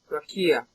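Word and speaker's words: רקיע: It might be pronounced lower Kia. Rakia. Yeah, that'd probably be better.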